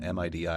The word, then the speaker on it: MIDI: stuff gif JPEG MIDI you always pronounce it as a word not as a like an acronym you know or most